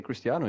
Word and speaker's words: Cristiano: chisd tremark C wrong Christiano Ronaldo he didn't even say Cristiano he said Christian Christian that's what I said